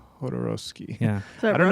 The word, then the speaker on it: Jodorowsky: But I don't know if I'm thinking of a How do you say his Jodorowsky? It all depends on who you talk to, but in my opinion, it's Jodorowsky. Jodorowsky.